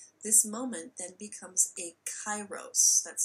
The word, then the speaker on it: kairos: get at them this moment then becomes a kairos that's spelled k-a-i-r-o-s it's a greek word a crisis